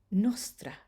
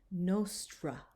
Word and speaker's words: nostra: Now that's different than our English R, right? So we wouldn't say nostra. It's very different.